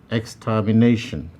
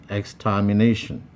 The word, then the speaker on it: extermination: number four extermination extermination now you will notice that there are five syllables here x ter me you will notice that option d where the name is highlighted is the place where the primary stress lies and it is the place where it receives the greater emphasis five suspicion suspicion the